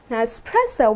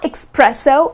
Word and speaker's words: espresso: Many people tend to say it as espresso, but it's not espresso. It doesn't have X in the spelling. Neither it's pronounced as espresso. The correct pronunciation is just the way it is spelled. It's espresso. I'll have a shot of espresso.